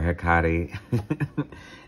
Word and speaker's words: Hecate: Demeter, Hecate, if I want to say it like the Mexican beer, Hecate, Aphrodite, love, beauty, pleasure, passion, goddess of appetites.